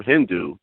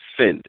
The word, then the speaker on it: Sind: fact that white people could not pronounce the original name of India, which was actually Sind. It was S-I-N-D. And they couldn't pronounce that S sound, so they turned it into Hind.